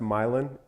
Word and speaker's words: Milan: bunch of Milan in the Midwest that are pronounced Milan even though they look like Milan so you think of Italy what about Hickory